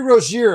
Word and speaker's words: Rozier: I've heard 10 different pronunciations of his name today. It's Terry Roier, everyone. It's the way it's been sounding for a long time and they just couldn't couldn't quite grasp it.